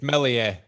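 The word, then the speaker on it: Meslier: defenders behind him but you don't pronounce the s cookie come on it's mellier but i've i've smelled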